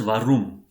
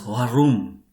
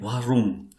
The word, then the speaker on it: warum: So this word warum is not to be pronounced as warum. It is to be pronounced as warum. Okay, warum. That is like from the deep throat that sound should come out.